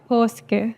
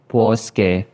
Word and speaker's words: Paaske: Yeah, Paaske. Paaske. Kasi naman sa reaction video ko, Paaske. So, ang dami nag-comment sa akin ng mga followers ko na I mispronounced your surname. So, it's Paaske.